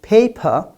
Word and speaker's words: paper: But if I say, for example, paper, even if I don't shout, look at it.